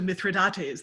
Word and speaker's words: mithridate: the person but but no mithridate was an antidote which the king is which that king is said to have come up with so it rhymes with state yeah i missed that after i said it and then i went oh no that's not myth yeah ah it was